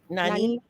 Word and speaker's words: Nynaeve: Nynaeve.